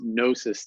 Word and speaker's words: gnosis: r AP y comm which is gnosis therapy with a silent G there so GN o s